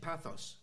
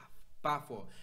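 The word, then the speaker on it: Paphos: Where is the TH in Pathos? It's not Pathos, it's Bafor. And actually the P is pronounced like a B. Okay, so it's Bafor.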